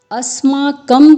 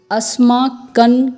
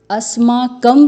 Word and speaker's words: अस्माकं: दीर्घ स्वर है हैं तो आपको इसका उच्चारण ऐसे करना है अस्माकं तु विशिष्टा यह अ कि कई लोग अस मार्किंग करते हैं जो कि उचित उच्चारण नहीं है तो आपको बोलना है अस्माकं तु विशिष्टा यह कि